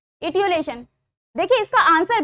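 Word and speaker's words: etiolation: इटियोलेशन word था, mispronounce हो गया था, इटियोलेशन।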